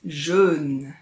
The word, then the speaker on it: jeûne: Ce sont deux mots qui se ressemblent beaucoup, mais le jeûne dont on va parler aujourd'hui se prononce un peu différemment. Écoute, on dit jeûne.